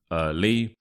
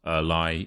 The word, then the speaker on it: early: is early once again the stresses on the first syllable early but don't be confused by that why so it's not a li it's early as if it were spelled with two e so l e e early